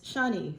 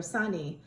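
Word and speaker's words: शनि: The name for Saturn in Hindi and in Sanskrit is Shani or Sani. In Tamil, in the Southern Indian, you just pronounce it with an S, not with an SH.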